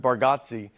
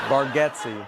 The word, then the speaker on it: Bargatze: I told you, I think you say our last name correct with Bargatze, and I think we say it wrong as a family. Bargatze.